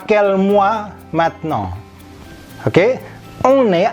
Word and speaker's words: maintenant: Ini tulisannya maintenant, tapi dibacanya kalau pelan-pelan kita bacanya ini maintenant karena AIN ini berbunyi ang, seperti halnya kombinasi IN saja. Kemudian E-nya tidak ada aksonnya. Kombinasi AN berbunyi ong ke bawah dan T di ujung tidak bunyi.